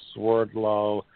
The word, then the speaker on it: Swerdlow: Russian name and but in United States it's pronounced Swerdlow but in Russia its